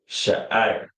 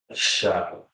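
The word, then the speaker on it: שֵׂעָר: Sha'ir. Sha'ir. All right. Right to left. It's Shah, I, Ra. 3 different characters. Shah, I, Ra. And it's pronounced Shah, I. Shah, I. R.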